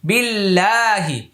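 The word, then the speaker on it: بِاللَّهِ: বিল লাম খাব লা বিল্লাহ হাজের হি বিল্লাহি আলিফটা লামটা উচ্চারণ আসে নাই।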